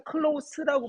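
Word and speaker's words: close: for example 예를 들어 people 사람들 어디 안에 살고 있는 클로스 여기서 클로스라고 발음하고 가까운이란 뜻이 있네.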